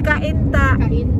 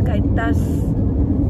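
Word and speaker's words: Cainta: There's no S. It's Kainta. Kainta. That's C-A-I-T-A. That's Kainta. That's Kainta. Do not put S because if you put S, there is no place in the Philippines, Kaintas.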